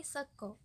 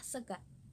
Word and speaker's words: sego: Sego di orang Surabaya, orang Jogja Solo itu ngomongnya sego, bilangnya sego. Tapi kalau orang Ngapak dia tetap bilangnya sega, pakai A, sega.